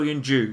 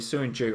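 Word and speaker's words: Söyüncü: you joined you so Jung Joo sorry soon Joo okay no but apparently you'd pronounce it with a J okay so soon G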